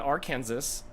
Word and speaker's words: Arkansas: The word Kansas and Arkansas, not pronounced the same. Arkansas. Yeah. Not Arkansas. Exactly.